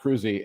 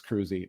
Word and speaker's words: Kroese: my books I'm cruy and it's spelled k r OES e so you would never guess it's cruy but you know I'm